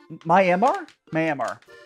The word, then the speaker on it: Myanmar: No, Myanmar. That's how you say it.